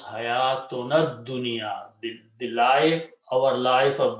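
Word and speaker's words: حياتنا الدنيا: Okay, you combine with the dal, and then it will pronounce hayatunad dunya, the life, our life of this world.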